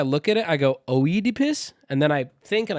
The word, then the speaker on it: Oedipus: Should have called it the Freud complex instead of Oedipus. Can I be honest? Oedipus's name is actually getting on my fucking nerves. Every time I look at it, I go, Oedipus, and then I think and I go, oh, it's pronounced Oedipus.